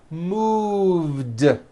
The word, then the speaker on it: moved: i trimmed the tree move has that voiced v sound move so it becomes moved i moved to california